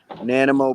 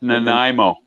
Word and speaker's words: Nanaimo: Nanimo BC slow roll. Where's Nanimo from me? Brian, do you know where Nanimo is? That's Nanaimo.